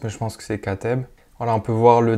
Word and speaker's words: Katteb: Donc, je sais pas trop comment on le prononce, mais je pense que c'est Kateb.